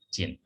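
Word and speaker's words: 人: Nah kewarganegaraan itu kalau dalam bahasa Jepang kita tambahkan ini, dibacanya jin ya.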